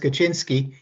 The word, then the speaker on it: Kaczynski: the question was ted kaczynski an eco-fascist uh if he was called ted he was probably american we pronounced kaczynski uh the post pronunciation would probably be kaczynski don't worry about